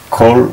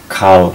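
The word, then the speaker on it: כֹּל: This is normally a, so we'd say En kal chadash. But in some ways of pronouncing Hebrew, when it's between two consonants like this, it becomes O.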